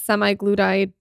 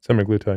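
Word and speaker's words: semaglutide: for insulin resistance and how does semi-gluti how do you say it semi-glue time okay play into this insulin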